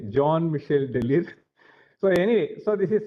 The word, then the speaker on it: Jean-Michel Delire: Jean-Michel, so that's how they say, Jean-Michel Delire. So anyway, so this is how I know his pronunciation.